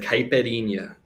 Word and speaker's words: caipirinha: favorite drink because i don't know how to pronounce it so why don't you tell us your favorite drink it's like caipirinha so it is the staple mixed alcoholic beverage